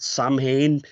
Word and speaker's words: Samhain: But I'll say that because obviously it's spelt Samhain, but it's pronounced Samhain, I think.